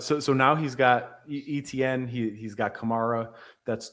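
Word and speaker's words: Etienne: or as he told everybody, his name is Travis Hchan Jr., but I'm I'm not going to pronounce it that way until I hear it for a full year of broadcasts because I I I don't believe it.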